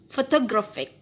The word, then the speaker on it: photographic: So, where is the primary stress? The primary stress is on gra. Okay, gra. The secondary stress is, with this mark, is on pho. So, photographic, photographic, photographic. Okay, so this one should sound very stress, louder, longer, and stress.